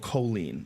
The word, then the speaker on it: choline: unusual and supposedly it's because of choline is that how you say it is that the the nutrient I believe you it's called Coline but apparently it's known